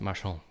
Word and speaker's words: Marchand: That is spelled Marchand, and it's pronounced Marchand. It's French. Marchand. It's not Marchand. Marchand. But I get that a lot, so I'm used to it.